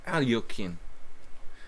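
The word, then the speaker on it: Alekhine: I don't know what he plays against Alekine's defense. Alyokhin. Alyokhin. Alyokhin. Nefedov. Nefedov. Nefedov. I'm practicing my pronunciation of random Russian names.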